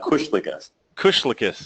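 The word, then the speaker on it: Kuslikis: every time no that's the right it's a Kush Kush lius okay I've heard I've heard people call you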